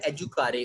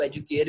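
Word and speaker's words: educare: لفظ سے نکلا ہے, اور وہ لفظ ہے ایجوکارے, اور اس کو ایجوکیئر بھی پڑھ دیتے ہیں کیونکہ اسپیلنگ ایجوکیئر والے ہیں.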